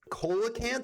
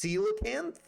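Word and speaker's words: coelacanth: Oh, it's not pronounced colacanth. It's pronounced seilocanth trigger fish.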